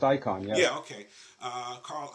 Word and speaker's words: Icahn: is done laughing correctly it pronounced icon yeah yeah okay Carl Icahn who's acquired a pretty